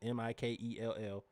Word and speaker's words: Mikal: Michael is spelled the way it sounds. Mikell.